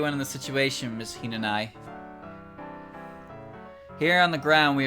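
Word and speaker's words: Hinanawi: syllable cuz you ran Oh the w silent like liked a Hina and I then Hina and I okay alright good grief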